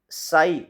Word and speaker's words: psi: है, उसी तरह से साई, जिससे हम जनरली साई पढ़ते हैं, साई इसकी स्पेलिंग PSI होती है, साई वो डी ब्रोगली